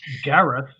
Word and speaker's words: Gareth: life theory all right grant your little dwarf you stay with the you stay with the wagon excuse me did you call me grant it is pronounced gareth thank you very much